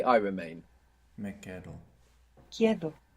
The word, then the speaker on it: quedo: Me quedo. Quedo. The E doesn't split here, but good for trying. Quedo. Quedo. I remain myself. Me quedo. Me quedo. Me quedo. This means I stay. Me quedo.